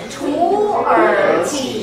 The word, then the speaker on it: 土耳其: 土耳其 You see, notice the third tone? It changes.